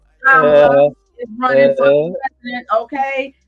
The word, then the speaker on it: Kamala: Say her name right, Kama, with the lie. Kamala is running for president, okay?